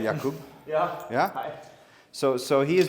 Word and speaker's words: Jakub: So Jakub, I think that's the correct Polish pronunciation, right? Jakub.